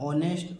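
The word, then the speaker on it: honest: ओ के पहले एच तो हमें एच को नहीं पढ़ना है अबकी बार एच को नहीं पढ़ना है तो इसे क्या पढ़ेंगे केवल इतना कहा पढ़ेंगे अंग्रेजी देखिए ऑनर ऑनेस्ट आवर इको तो इसे क्या पढ़ेंगे ऑनर पढ़ेंगे इसे क्या पढ़ेंगे ऑनेस्ट पढ़ेंगे इसे क्या पढ़ेंगे आवर पढ़ेंगे इसे क्या पढ़ेंगे इको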